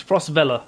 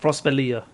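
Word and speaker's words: Frostvellr: against dredge as well so it's Frost Bella not frostbalia good to know I'm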